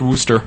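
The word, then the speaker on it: Worcester: Oh, but it's pronounced Worster.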